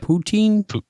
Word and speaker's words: poutine: friend a good friend yeah so where's the poonteen you gotta point it out is that how you say it poutine poutine yeah i think he's eating it right